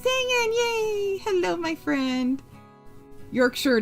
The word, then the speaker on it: Yorkshire: Yorkshire, not Yorkshshire.